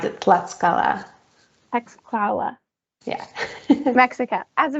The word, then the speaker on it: Tlaxcala: You pronounce it Tlaxcala.